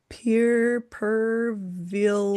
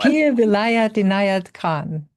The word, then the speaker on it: Pir Vilayat Inayat Khan: They both studied intensively for over 4 decades and now represent, I'm hoping I pronounce this right, Sufi master Pierre Perville. Pir, Here, help me with this one. Pir Vilayat Inayat Khan.